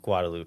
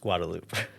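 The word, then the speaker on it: Guadeloupe: are typing right now I believe this country is actually pronounced guadaloop I know Jeremiah went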